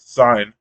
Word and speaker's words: Cyne: and early 2000s, um, called Sign. Right? It's spelled CYNE.